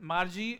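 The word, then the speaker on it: Margie: ma'am thank you ma'am आपने देखो मार्जी pronounce करते हैं but different people can pronounce it differently है ना लेकिन प्रोनंसिएशन जो जनरल प्रोनंसिएशन है इसका जो गिवन है व मार्जी है एनीवे आगे चलते हैं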